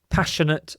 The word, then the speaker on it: passionate: Passionate about. Notice the pronunciation of passionate, pash. It sounds like the SH sound. Passion. So the I you don't really pronounce.